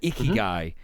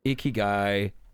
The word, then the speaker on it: ikigai: It's called ikigai.